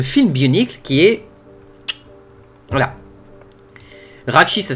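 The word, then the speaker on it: Rahkshi: film Bionicle le film Bionicle qui est voilà raki ça s'écrit ça s'écrit R a h K s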